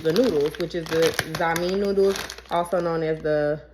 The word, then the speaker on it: Xiamen: Today is letter X for I think you pronounce it zamin noodles.